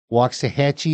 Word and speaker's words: Waxahachie: mistake will likely mounts the wax is spoken walks if you say it right but it's La wax to The Lax they've no linguistic might Hatchy rhymes with a patchy which has never been hard to say but put